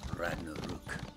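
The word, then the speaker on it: Ragnarök: Nordic languages of Scandinavia they actually roll their R's so Ragnarok is actually pronounced Ragnarok in it it's pretty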